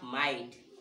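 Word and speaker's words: might: इसी प्रकार से फिर आपका जो IGST है उसको भी हम क्या पढ़ेंगे, आइट। क्या पढ़ेंगे, आइट, है ना। अब हमने क्या कहा, माइट, तो इसमें क्या लगा दो, एम। और हमने क्या कहा, राइट, तो इसमें क्या लगा दो, आर, है ना।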